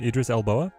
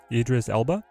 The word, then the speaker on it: Idris Elba: Idris Idris how do you say his name Idris elbow Idris Elba Elba Idris Elba could he be Doom chat